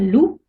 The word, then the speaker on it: loup: le xe et le z par exemple un loup le p ne se prononcent pas il ya des exceptions un ours